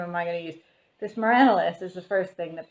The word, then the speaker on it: Myranalis: I'm forever going to be Myranalis at this point.